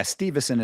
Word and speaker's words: Steveson: things I've heard people I've heard people pronounce it Steveson, so I don't know if that if that is better for you or if that's more correct. But yeah, Steveson is how I've heard it pronounced and how I pronounce it.